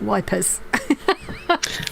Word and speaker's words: Ypres: It's something like Ypres. Yeah. But I know people like my great grandfather, who was killed in the war, would have called it wipers.